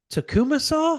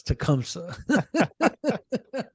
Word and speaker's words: Tecumseh: what is that tongue called takuma saw I'm like no it's Tecumseh so anyways uh yeah